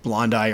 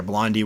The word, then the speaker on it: blondi: blondi or blondie, whichever way you want to pronounce it, Theraphosa blondi, that died on me.